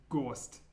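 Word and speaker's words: гость: This one's pronounced gost.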